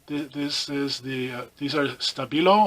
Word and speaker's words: Stabilo: is the these are Stabilo or Stabilo which i think is how it's pronounced because it's a German company and I saw a video of the factory where they make them or whatever and it's been on shabby yellow with like an SH kind of sound which sounds kind of funny to me but that's the way it's pronounced sociable oh these are